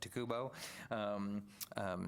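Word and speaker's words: TICUBO: TESCUBO? Takubo? Takubo? There's not an S in it. Takubo, to make sure that they are aware of those things.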